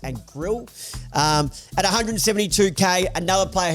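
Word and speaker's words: Grlj: Now it's spelled G R LJ, but I've been uh I've heard that it's pronounced and Grill.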